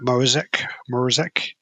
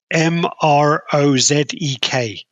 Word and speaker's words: Mrozek: How do you say his name then? Mrozek.